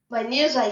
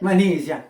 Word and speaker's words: Manizha: It's Now or Never by, and again, I try to pronounce it correctly, Manizha. Manizha, yes, you got it. Manizha, all right.